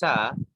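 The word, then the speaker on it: ث: The thing with sa is that when we pronounce sa, we put the tip of our tongue under upper teeth like this.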